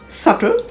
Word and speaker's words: subtle: s-y-m-b-o-l symbol a-m-b-i-g-u-o-u-s ambiguous the b is silent before the letter t as in debt d e b t doubt d-o-u-b-t subtle s-u-b-t-l-e data d-e-b-t-o-r and doubtful